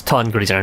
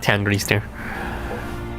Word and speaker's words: Ton Grisner: I'm pretty sure it's Ton Grisner, not Tan Grisner.